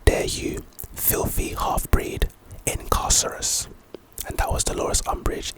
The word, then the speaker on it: Incarcerous: really good scene the next spell is incarcerous pronunciation incarcerous this is our second Jinx spell I believe